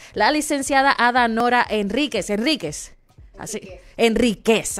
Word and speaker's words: Henríquez: Enríquez, así es que se pronuncia.